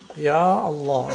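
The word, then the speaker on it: يا الله: Ya Allah. You don't say Allah. You have to say Ya Allah.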